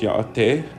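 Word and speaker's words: Yá'át'ééh: We have hello, which is pronounced yaate.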